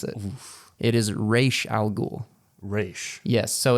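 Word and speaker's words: Ra's al Ghul: but uh uh Christopher Nolan and Company actually pronounced razal ghoul incorrectly for the entire movie as well as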